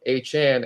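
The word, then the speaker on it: Achane: are Devon a Chan I'm sorry correct myself uh we had a corrective from uh Han himself who said it that's what he prefers the pronunciation of it so Devon a Chan and Raheem mostert are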